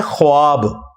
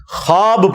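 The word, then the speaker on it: ख़्वाब: सकता अच्छा ये लफ्ज लिखने में है ख्वाब खवा व अलिफ बा लेकिन पढ़ने में यह ख्वाब है वाओ साइलेंट हो जाता है ख्वाब पढ़ा जाता है ये लफ्ज उर्दू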